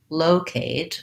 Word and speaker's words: locate: if i'm just doing locate then i want to kind of focus on low versus location is more